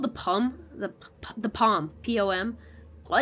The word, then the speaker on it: Poom: P-O-M.